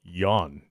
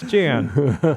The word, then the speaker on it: Jan: tell me he's like no your name is pronounced Yan it's not chance like nuts it's Jan no it's Yan hmm I've also had